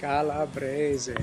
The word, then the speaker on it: Calabrese: Hey, I'm here with Giovanni Calabrese. Calabrese. How do you say it? Calabrese. Calabrese.